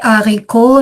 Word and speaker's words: haricots: Ouais, les haricots, c'est un hache aspiré. Les herbes non. Donc, on fait la liaison.